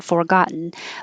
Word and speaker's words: forgotten: forgotten forgotten same thing you don't have to say for you can forgotten but it's not stressed so it can just be for short forgotten and it's similar to